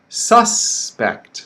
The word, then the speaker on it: suspect: have to investigate okay suspect stress on the first syllable suspect okay the second word